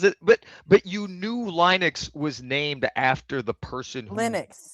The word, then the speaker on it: Linux: are, then maybe we could talk about the pronunciation. the guy that invented it came out and said it's Linux like so many years later.